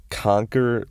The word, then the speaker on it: Conker: I saw a trailer for this game, and it's called Conquer Live and Reloaded, and it's spelled like Conker.